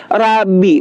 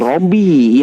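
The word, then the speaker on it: رَبِّي: Rabbi bukan Robbi ya.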